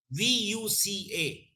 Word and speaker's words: VUCA: yes me yes please v-u-c-a yeah you learn if i'm pronouncing it correct yes yes yes right and it will be